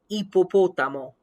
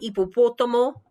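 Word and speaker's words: hipopótamo: ipo potamo you see the age but i don't say it ippo potamo and again a word like ippopotomo yes excuse me one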